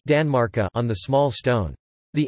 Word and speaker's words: tanmarkar: Danmark on the large stone, and genitive Tanmarkar, pronounced Danmarka on the small stone.